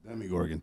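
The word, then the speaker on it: Demogorgon: thing that goes that demi gorgon yeah the demigorgon that's demigorgon that's how you say it okay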